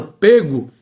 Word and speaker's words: pego: A pronúncia deve ser sempre fechada. O que foi que aconteceu ao longo do tempo? Antes a palavra pego tinha um acento circunflexo e perdeu esse acento há muito tempo. O acento não existe há muito tempo. Apenas a pronúncia tem o timbre fechado.